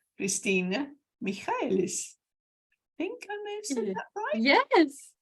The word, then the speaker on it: Michaelis: I am so excited to bring to you a lovely, lovely lady called Christina Michaelis.